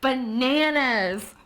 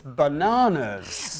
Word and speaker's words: banana: We say banana in England and you say banana in the United States.